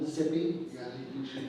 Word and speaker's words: Mississippi: mississippians and you know you're saying it right if you can say Mississippi in one syllable Mississippi all together so you got the